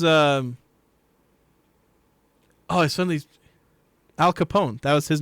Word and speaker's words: Capone: don't know who Al Capone was am I am I saying his name wrong or the Newsies I I've never heard of Al Capon Capone Capone he's Italian all right that's something new